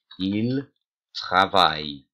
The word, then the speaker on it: travaillent: Ils travaillent. But remember that E-N-T is silent. So you might even put it in brackets and remind yourself that. Oh, I've missed my il y a off. Il y a quatre personnes. You might even put it in brackets. You might put dots under it or whatever. But don't pronounce that ENT.